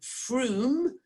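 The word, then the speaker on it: Frome: in the uk it's called froome but you spell that f-r-o-m-e number two is uh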